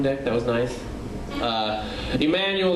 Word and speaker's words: Emmanuel: that was nice uh Emanuel that's got four syllables it usually confuses most